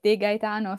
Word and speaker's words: de Gaetano: of your surname there oh it was perfect they gaitano sounds very good thank you thank you